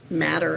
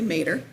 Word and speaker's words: Mater: Um, the I'm going to say it wrong, Matter Academy. I always want to say Mater every time.